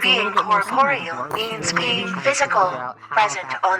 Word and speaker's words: corporeal: Or do you It does, yeah, it Corporal does. versus corporeal. Incorporeal. There we go. Corporal. Incorporeal. Corporeal. Corporal. I see. It's a syllable difference.